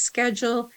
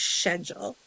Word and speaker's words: schedule: Here we pronounce it as schedule. There they would pronounce it as schedule.